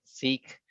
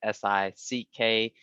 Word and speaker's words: Sikh: lot of people say seek with the s-e-e-k or s-i-c-k but it's pronounced sick though sick word means